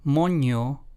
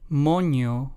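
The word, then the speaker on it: moño: in the following example the two words in Spanish mono versus mono let's hear those two again mono versus mono the first one translates to bun in English while the second one translates to Monkey in English so as you can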